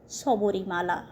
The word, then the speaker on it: Sabarimala: সবরীর এই অতুচ্চ ভক্তির স্মরণে সেই সময়কার লোক ওই পর্বতটির নাম দেন সবরিমালা। আর মালায়লামে এর উচ্চারণ হয় সাবরিমালা।